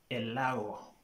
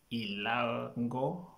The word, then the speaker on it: Elago: Four, Elago, Elago. So you find some people saying Ilango or Ilago. So the correct pronunciation is Elago.